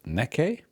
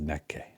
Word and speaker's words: Nek!: And I think, Mark, this band is pronounced Neke. The reason I'm saying that is because we did a live stream and we did hear one song from this group, and somebody in the chat said it's pronounced Neke.